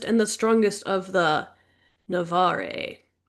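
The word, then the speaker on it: Navarre: the strongest of the Navare. I'm just guessing at that pronunciation. I'm making it up. The fans are going to be really pissed and they're going to be like, "It's pronounced Navar. Sorry."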